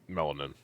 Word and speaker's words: melanin: All right, let's see about this melanin or whatever the fuck it is. Compound called melanin in it, and melanin. Melanin, isn't that what makes your skin darker? No, melanin. That's melanin. Nin. Not min. Nin.